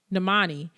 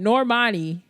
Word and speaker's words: Normani: and i'm going to talk about my uh namani and normani let me say her name right normani okay and her new song that she came